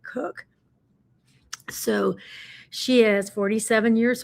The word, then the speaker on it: Koch: And her last name is spelled Koch, but I think she pronounces it Cook.